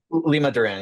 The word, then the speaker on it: Limaduran: We've got and is it Limodoran? Is that the way way to pronounce it? Lima Duran. Yeah. Lima like Lima Peru. Duran Duran.